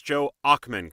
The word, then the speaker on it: Joe Ochman: And Joe, remind me if I'm pronouncing this right. It's Joe Ochman, correct?